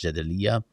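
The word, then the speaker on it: Jadaliyya: And of course, uh if people do not know how to pronounce Jedalia, it's J A D A L I Y Y A.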